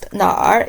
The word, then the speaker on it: 哪儿: When you pronounce 哪儿, you just start with 哪 and quickly roll the tip of your tongue a bit.